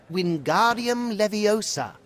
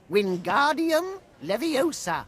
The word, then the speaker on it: Wingardium Leviosa: Its incantation is Wingardium Leviosa, just like this. Wingardium Leviosa. Pay attention to your pronunciation. It's Wingardium Leviosa. Remember, make the ga nice and long.